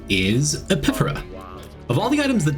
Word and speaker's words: Epiphora: It's not Epiphoria. I even spell it wrong in my notes. Epiphora.